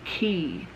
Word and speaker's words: Quay: brain fart either way hue is pronounced key my bad and allegedly